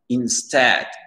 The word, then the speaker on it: instead: Instead, instead. L'accent tonique, il est sur le S-T-E-A-D et c'est un son E ici.